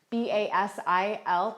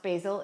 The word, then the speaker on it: Basil: is one of their famous children called basil b-a-s-i-l but it's not pronounced basil it's actually pronounced his name is actually pronounced